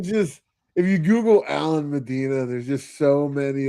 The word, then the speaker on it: Medina: Medina. Is that how I pronounce that?